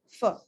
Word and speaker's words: for: in spoken fluent english you don't always have to say for you are allowed to reduce it put a schwa over there and make it sound fur would you like to